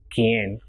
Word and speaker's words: quien: And if it is QUI, it will be pronounced as ki and not qui. So it will be quien.